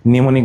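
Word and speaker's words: mnemonic: কিছু কিছু বানানে প্রথম অ্যালফাবেটটা থাকে সাইলেন্ট, যেমন সুনামি বানানে টি সুনামি, নিউমোনিয়া বানান পি নিউমোনিয়া, সাইকোলজি বানান পিসাই চলো যাই মানে পিসি চলো যাই, নিউমোনিক বানানে এম নিউমোনিক। এই চারটা বানান প্রচুর আসে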